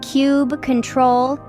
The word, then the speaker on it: kubectl: on Mini Cuba let's dive into kubectl kubectl pronounced as cube control is a robust command line tool that manages